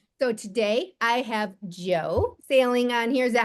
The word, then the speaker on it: Saling: way to pronounce that no it's like you're either going for a sale and you're going to buy a house or you're on the ocean and you're going sailing right yep so today